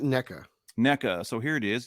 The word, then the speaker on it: NECA: Is it NECA? Nika? I pronounce it NECA.